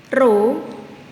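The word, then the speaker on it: ρ: lihat di mana Nyi Roro simbolnya seperti ini bacanya ro-ro adalah massa jenis zat cair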